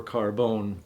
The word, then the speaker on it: Carbon: We call it Prada Carbon or Carbone. That's the Italian pronunciation.